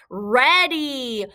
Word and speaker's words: ready: week is ready oh what is that y saying at the end of this word it's saying e but this vowel team ea it usually says e but it's saying the short vowel sound so remember this is